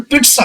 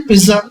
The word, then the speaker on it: पिज़्ज़ा: की जितनी आगे से पिज़्ज़ा को सही उच्चारण पित्त सा होता है ये ऑक्सफोर्ड डिक्शनरी में आप देखेंगे तो आपको पता चलेंगे इसका राइट प्रनंसीएशन इट्स सा होता है लेकिन पिज़्ज़ा चलता है हम बोलते हैं ये